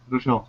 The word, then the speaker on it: Rouchiel: And I definitely want to get that picture that Rouchiel, is that how you pronounce it? Yeah, Rouchiel, yeah.